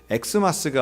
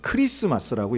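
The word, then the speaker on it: Xmas: 그래서 이걸 읽을 때도 엑스마스가 아니라 이건 크리스마스라고 읽어야 정확한 발음입니다.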